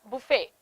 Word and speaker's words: buffet: in the english spelling because we try to pronounce every single letter for example words like uh words like uh honor words like honest words like budget debt receipt buffet and bokeh these are